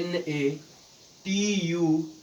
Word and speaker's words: nature: तो इसका अगला रूल ये होता है कि यदि, यदि टी के बाद URE हो तो टी का उच्चारण च किया जाता है।